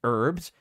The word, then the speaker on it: herbs: the with this app you don't pronounce the h in herbs you pronounce the h in the name of herb remuneration remuneration remuneration remuneration